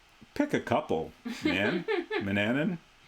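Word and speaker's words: Manannan: Mananan. Rhymes with bananan.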